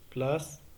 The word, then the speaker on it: place: Qui contient la lettre C, elle se prononce S, sont français, place, 7.